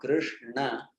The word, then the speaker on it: Krishna: So I should say that even if I say now Krishna, my tongue does go down, but it doesn't influence the pronunciation because you already have said the sound. And my tongue is down there, but I stopped speaking. The word is over. The name is over. So it doesn't really matter what the tongue does after.